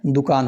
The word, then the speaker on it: दुकान: द पे जो छोटा ऊ का मात्रा है इसका मतलब होगा कि हमें द का जब हम लोग उच्चारण करेंगे तो उसे बहुत जल्दी खत्म करना है।